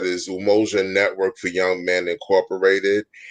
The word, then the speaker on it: Umoja: a foundation up in new york um called emoji is how you pronounce it it's actually we say umoja but it's almost a network for young men